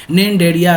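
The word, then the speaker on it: Cnidaria: Coelenterata क्या बोला, सी यहाँ पे साइलेंट हो जाता है, निंडेरिया भी बोला जाता है।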